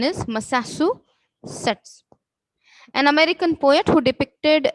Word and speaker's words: Massachusetts: The pronunciation is Massachusetts.